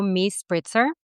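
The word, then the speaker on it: MiSpritzer: So, on Instagram and any other social media, I have the same handle, which is m i s p r i t zer. So, me spritzer.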